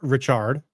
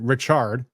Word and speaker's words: Ritchard: The plaintiffs, the defendant is Charles Ritchard. That's how he pronounces it, I'm told. Not Richard, Ritchard, but okay.